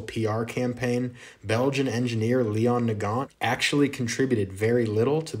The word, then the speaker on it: Nagant: a russian name and nagant or nagong is a walloon belgian name so unless your goal